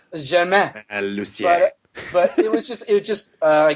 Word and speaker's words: Lucier: Lucier.